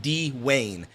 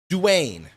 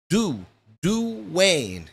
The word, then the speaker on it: Duane: Like, I get that Duane. If you say it quick, it sounds like D-Wayne. But I tell them, Duane. Duane.